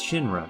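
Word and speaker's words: Shinra: first good look at Shin-Ra's logo, albeit upside down. While the English text is still harder to make out, the Japanese text is far more discernible. Of course, phonetically it reads Shin-Ra, but I think it's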